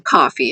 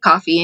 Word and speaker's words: Ko-fi: Because I feel like the locals would just pronounce it coffee anyway. Because it sounds weird if you say Kofi, even though that does look like Kofi or Ko-Fi. I've heard it pronounced Ko-Fi also, but coffee makes sense.